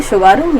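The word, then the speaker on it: Tsugaru: सुगारू यानी कि ये देखा टी लगा के टी साइलेंट है इसमें सुगारू स्टेट।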